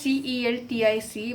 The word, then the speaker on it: Celtic: So, these native people spoke Celtic which is written as c e l t i c but it is is spoken as k e l t i c. This is why I'm I'm pronouncing the word as Celtic because it starts from k e l t i c.